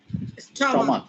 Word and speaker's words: stomach: এই সিএস কে কখন খ বলবো? এই যদি সায়েন্টিফিক ওয়ার্ড হয়, এছাড়া হলে আমরা চ বলবো।